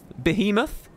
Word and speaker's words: behemoth: like it's insane WP how do you pronounce bear moth Bay him off behemoth behemoth famous I like behemoth